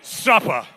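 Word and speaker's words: Supper: little frankie's frank and suppa which is spelled s-u-p-p-e-r but when he says it it's with an a on the end you know what i'm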